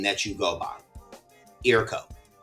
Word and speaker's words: IRKO: Eroco. Yep. Like, am I pronouncing that correctly? Eroco.